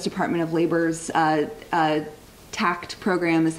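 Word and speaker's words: TAACCCT: of labor u.s department of labor's uh uh tact program is how we pronounce it possibly one of the most ridiculous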